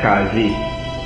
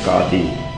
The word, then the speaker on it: qadi: be headed by this and finally call it kazi the correct pronunciation is khati and that is the village judge so the village panchayat would be headed by a village casey or khadi who would decide all disputes in accordance with